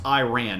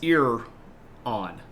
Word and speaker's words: Iran: on and Iran uh except it's not pronounced Iran it's not a past tense sentence uh neither is Iraq uh the it's ear on and ear o um